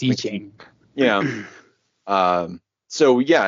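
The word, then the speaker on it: I Ching: lines like the um is it pronounced iching or iing um I've never actually had to say it out loud I think it's iching yeah um so yeah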